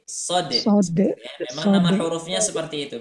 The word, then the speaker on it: Shad: ya Heeh ada dalnya jadi cara membacanya itu s h a d shod memang nama hurufnya seperti